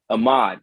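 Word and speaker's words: Ahmaud: but um uh ahmed aubry case i'm sorry ahmed is that how you say his name ahmad there we go ahmad aubry that case is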